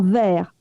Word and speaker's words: verre: Donc le mot verre, V-A-I-R, et verre, V-E-2-R-E, se prononcent de la même façon.